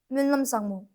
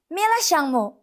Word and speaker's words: Nyima Lhamo: Her name is Nyima Lhamo. But because she doesn't knows how to pronounce her name, she pronounces it Mila Shangmo, Mila Shangmo.